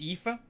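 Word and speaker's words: Aoife: H is um uh the name epha it's spelled a was it a o i f e but it's EA you know that kind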